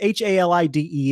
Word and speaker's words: Halide: I don't know if it's Halid or Halid, or I mean, it could be anything. No, it is Halide.